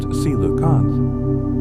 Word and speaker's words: coelacanth: The coelacanth, pronounced coelacanth, was believed to have gone extinct with the dinosaurs 65 million years ago.